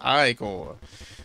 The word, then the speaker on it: ichor: It's pronounced ichor.